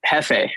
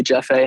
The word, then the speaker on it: Jeff: a mexican guy and he would always say your name in spanish since jays are pronounced as h's would be jefe or he free and that's not accurate at all like in spanish my name would still be jeff you know but it